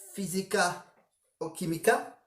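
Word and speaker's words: Física o Química: vers les années 2010, c'est donc Physica o Química, c'est ça se prononce comme ça, hein.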